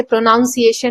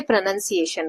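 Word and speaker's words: pronunciation: Buffet then प्रोनंसिएशन प्रोनाउंसिएशन इसे प्रोनाउंसिएशन नहीं बोलते प्रोनंसिएशन बोलते हैं।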